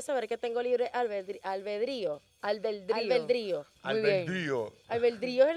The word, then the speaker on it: albedrío: todos somos unos malab con acento en la i albedrío la tilde Oye qué bella palabra